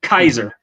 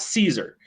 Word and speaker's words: Caesar: c that's pronounced because the letter c in latin is just k sound so kaiser not caesar you don't pronounce it with an s the s is a